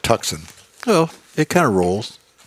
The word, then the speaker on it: Tucson: Hyundai tuxen oh boy I think they pronounced that Tucson but I like tuxen well it kind of